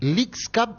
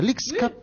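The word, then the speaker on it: Leagues Cup: Gracias a Wilson González leak Cup así se pronuncia leak Cup y es el que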